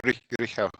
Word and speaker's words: Rihel: Is it Rihel? You're welcome. Is that pronounced right? Rihel. Yeah, you can say Rigel or like Rigel. Like, Rihel.